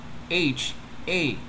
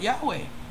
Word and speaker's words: YAHA: And it's not Yahweh. Because you got Y, A, H, and an A.